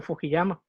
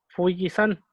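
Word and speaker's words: 富士山: Cuando yo era joven, era conocida como Fujiyama, porque normalmente así se le mueve.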